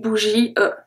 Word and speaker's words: bougie: I don't say une bougie. Okay? I say une bougie. Bougie, that's it. Bougie. I stop after the I.